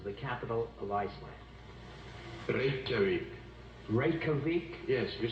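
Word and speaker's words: Reykjavík: Torres leaves, I wish he'd do me one great favor and tell me how he pronounces the capital of Iceland. Reykjavik. Reykjavik? Yes, you said it quite well. Reykjavik.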